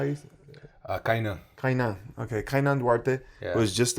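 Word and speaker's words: Kaynan: I don't know how to say his name, Canyon? Or how you Kainan.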